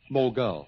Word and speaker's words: mogul: No, like, which is correct, mogul or mogul? Well, I always say mogul. It's mogul.